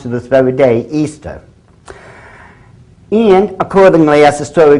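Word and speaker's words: Ishtar: Easter now a lot of people think it's pronounced ishar i h t a r people check the Babylonian Telmo once again it is properly pronounced to this very day Easter and accordingly as The Story Goes whoever found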